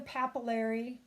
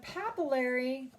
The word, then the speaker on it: papillary: stuff found there now the papillary rhymes with capillary that is where those